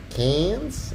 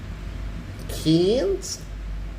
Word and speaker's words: Cairns: my sister's based here their cans as they say Kings is that what they say is that how they say it uh Riverhead you're a queenslander cans so yeah my parents